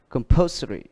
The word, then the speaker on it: compulsory: Còn cái này, bởi vì ở đây có 3-4 âm tiết, nhưng ở đây thì ngoại lệ, âm ary này nó lại được nhấn ở âm poor. Compulsory.